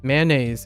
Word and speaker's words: mayonnaise: one of them so instead of mayo in saying mayonnaise mayonnaise is the original American pronunciation right mayonnaise it it just runs together mayonnaise but if you want to get really fancy you say may name that's what this reminds